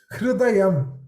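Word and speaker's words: हृदयम्: Hridayam. This heart.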